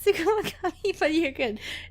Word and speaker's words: Tsukumogami: Was just double checking on your pronunciation. Of what? Lute? No, it's Tsukumogami, but you're good.